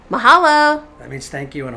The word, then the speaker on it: mahalo: you next time how do you say the mahalo mahalo that means thank you in hawaiians mahalo brah did you say bra special hello bro mahalo brah bye